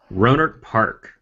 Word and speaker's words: Rohnert Park: Ladies and gentlemen, welcome to the SciFi Geeks Club from, how do you pronounce that, Corey? Rohnert Park.